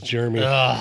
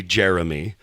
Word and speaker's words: Jeremy: jery oh I know everybody says jery there's in there you know what I genuinely would prefer to the mispronouncing of Jeremy like it's it's supposed to be Jeremy but that [ __